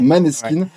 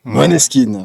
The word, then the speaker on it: Måneskin: Je vais continuer avec Maneskin. Alors qu'en effet, on prononce Måneskin.